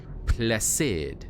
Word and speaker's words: Placide: Pronounce his name like you would in French. Oh, Placide. Placide?